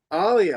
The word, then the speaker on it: Alia: It rhymes with Somalia. Oh, Alia. Okay, I got that now. Alia.